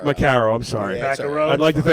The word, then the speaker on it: Macaro: Macaro. Macaro, I'm sorry.